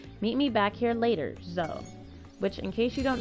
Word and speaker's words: Zoe: Zoe is actually pronounced Zoe.